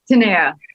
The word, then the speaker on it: Tanaya: Is that how you pronounce it? Tanaya. Tanaya?